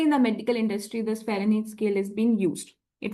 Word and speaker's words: Fahrenheit: Fahrenheit is also correct pronunciation. In order to learn the spelling, you need to have the H sound in between these spelling. Fahrenheit. Okay.